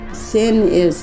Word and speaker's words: Sinixt: The way we pronounce our our name is sin is the place a is a bull trout on end is the people the place of the bull trout people.